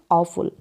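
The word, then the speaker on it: awful: तो चलिए देखिए, आई हैड एन ऑफुल, तो यहाँ पर ये जो है ऑफुल, ये इसका उच्चारण है ऑफुल।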